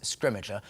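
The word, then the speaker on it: Scrimgeour: to say his name and we're going with scrimmager I think that's how we've ended up saying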